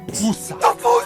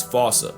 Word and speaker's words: fossa: Experts feel free to correct me, but apparently that is the closest to the OG Malagasy pronunciation. It's just that the global game of telephone has Americans saying Fossa, while England pronounces it as Fossa.